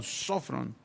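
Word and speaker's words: σώφρων: Esta palabra se tradujo del griego sofrón, tiene acento en la primera O, sofrón. Y sofrón, que se tradujo prudente, significa alguien que se domina a sí mismo.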